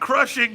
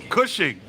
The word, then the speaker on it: Cushing: It's Crushing, guys. No R. Welcome to the show, Crushing. There's no R. What is it? How do you say it? Rushing? Cushing.